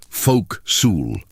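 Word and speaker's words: forecastle: This is the forastel or folks, pronounced folk su.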